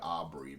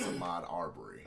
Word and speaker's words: Ahmaud Arbery: I think it's pronounced Ahmaud Arbery, but I just say it Aubrey, but it's Ahmaud Arbery.